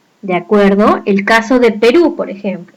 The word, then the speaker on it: Perú: acuerdo el caso de perú por ejemplo sabemos que perú lleva tilde pero por qué porque es una aguda dado que la mayor fuerza de votos el acento está en la última sílaba de pink y justo